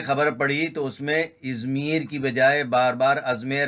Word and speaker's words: ازمیر: لیے عرض ہے کہ یہ نام ازمیر یا ازمیر نہیں ہے، ازمیر ہے۔ اس کی اسپیلنگ دیکھ لیتے،